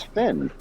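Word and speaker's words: Fynn: don't think i got it actually mine mine's finn uh how do you spell that f-y-n-n oh all right i was thinking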